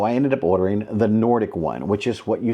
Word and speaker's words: Nordik: So I ended up ordering the Nordic one, which is what you see right here. This smooth surfaced desk mat that you see right here is from this company called Nordic. N-O-R-D-I-K. Nordic.